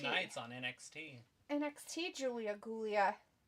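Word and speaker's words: Giulia: NXT Julia Gulia. Because her name is spelled like Gulia, Mm-hmm. but they pronounce it Julia, which creeps Oh.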